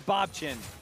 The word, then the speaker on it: Bobchin: Having talked to other pros who play against him in Challenger all the time, I rarely hear a consistent pronunciation, but it is Bobchin, let the record state.